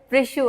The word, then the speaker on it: प्रिशु: That is प्रिशु। आप क्या-क्या लिख रहे हो? प्रिशु सिंपल सा नाम है प्रिशु। ठीक है? ये स्पेलिंग है थोड़ा याद करो अच्छे से।